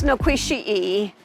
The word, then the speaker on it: Nequasi: The place is Nequasi. That's the name of this mound in this community, and that's the correct Cherokee pronunciation, which means star place.